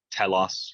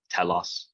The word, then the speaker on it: telos: Telos would be, it's an omicron, so a short O, telos. And the accent's on the first syllable there, telos. Back then it was a tonal language, so maybe Plato went, telos.